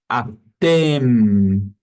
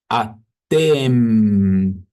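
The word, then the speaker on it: אתם: O M do hebraico é sempre com os lábios fechados. Preste atenção. Atem. Atem.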